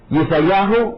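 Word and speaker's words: ישעיהו: Yesayahu o Yesaya, cualquiera de las dos pronunciaciones serían las correctas para Isaías.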